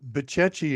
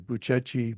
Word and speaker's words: Bucegi: First of all, Bucechi has a very strange spelling. It's Bucegi, the Bucechi Mountains. I wouldn't have pronounced it that way.